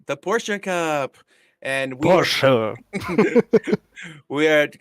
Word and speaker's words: Porsche: catch that Pi I said it right the Porsche cup and we we are at uh Catalonia